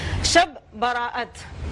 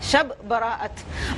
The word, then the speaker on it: شب براءت: شب براءت، یہ اس کا صحیح تلفظ ہے. شب براءت.